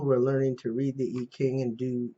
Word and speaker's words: I Ching: i got it from the e king readings um which uh uh is spelled this way okay it's in beijing i ching and some places that want to pronounce it american but anyway it answers